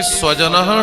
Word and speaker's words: स्वजन: मत कह देना देखिए स तो तीन होते है ना एक का उच्चारण दंत से करते हैं एक का ताल से एक का मृदा से करते है तो जब छोटी स से हम स्वजन लिखते हैं तो स्वीने होता है अपना स्वजन और कोई जिहवा तालू के पास ले जाकर स्वजन कह दे स्व माने होता है कुत्ता स्व माने कुत्ता ही होता है ना तो कहना